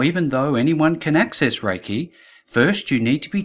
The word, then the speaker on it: Reiki: ancient power source and the name Reiki which is pronounced Reiki comes from the combination of two separate words firstly re which means